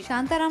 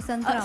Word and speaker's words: संतराम: शांताराम नहीं है, संतराम।